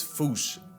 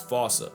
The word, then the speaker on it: fossa: to say it is foo. Foo fooch. Like foo with a performance anxiety uh at the end. Experts feel free to correct me, but apparently that is the closest to the OG Malagasi pronunciation.